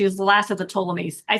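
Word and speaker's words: Ptolemies: the last of the tolamies. I say it's hard to pronounce because it starts with a P, but it's pronounced with a T.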